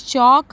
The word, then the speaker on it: chalk: Fifth one is write any three words in which the letter L is silent. So the answer is chalk, half and should.